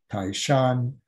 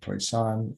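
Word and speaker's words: 台山: pronounced subway in cantonese taishan in mandarin toy son in cantonese kaipeng or hoyten and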